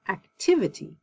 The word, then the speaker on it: activity: like able but ability active you see it's on this first syllable active but when i put the ity i say activity agile agility capable capability